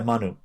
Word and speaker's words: Manu: Now, does he pronounce it Manu or Manu? Yeah, Manu.